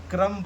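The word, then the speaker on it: crumb: कब साइलेंट होता है, बी तब साइलेंट होता है एम के बाद, एम के बाद कभी भी बी आए, एम के बाद कभी भी आए, बी आए कभी भी, तो हमारा बी साइलेंट हो जाता है। जैसे कॉम्ब हो गया, बॉम्ब हो गया, क्रम्ब हो गया, थंब हो गया, तो बी हम लोग का यहाँ पे साइलेंट हो जाता है।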